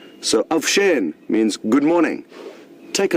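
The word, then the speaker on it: avuxeni: the same tribe, is avusheni, spelled A-V-U-X-E-N-I. So the X's are pronounced as sh. So avshen means good morning.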